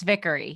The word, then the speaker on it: Vickery: you did a good job it is it's vickery yes thank you for having me awesome so